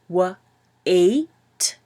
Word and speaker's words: wait: So to pronounce this one, it's wet, wet, and this one is wait, wait. So the A and the I together make a sound, wait.